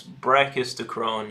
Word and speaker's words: brachistochrone: Can you pronounce brachistochrone yet properly yet?